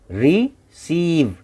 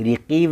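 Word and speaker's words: receive: रिसीव, रिसीव, रिसीव। सी ई साथ में है, इसके लिए स पढ़ेंगे, रिसीव, रिकीव नहीं, है ना।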